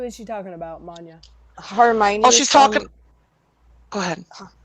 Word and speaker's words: Hermione: worry it's from harry potter how do you pronounce that word and who is she talking about mania hermione oh she's talking go ahead hermione's from harry